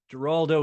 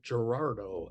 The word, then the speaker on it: Giraldo: A lot of Oh, people forget the R. I don't know why they Gerardo.